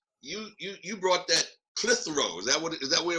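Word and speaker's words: Clitheroe: country i mean you you you brought that clithrose that what is that where it was that's how you say it you brought that clithrow hot sauce baby all the way from newcastle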